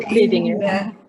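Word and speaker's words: Lidingö: Pia joined Zonta in 2001 and is currently the president of the Zonta Club of Lidingo. Is that how you pronounce it, Pia? Yes, about so, Lidingo.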